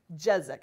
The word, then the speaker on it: Jezak: The first, Christin Jezak. Am I pronouncing it right? Jezak.